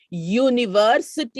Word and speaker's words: university: on right and no though it begins with a vowel the sound produced is that of a consonant university you european useful and